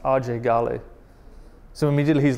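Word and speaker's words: Ajay Ghale: fighting the Civil War so just his name AJ Gail gets him in trouble even to the point that his whole life he's called himself AJ Gail right but his name is actually pronounced RJ gal so immediately he's like oh even his name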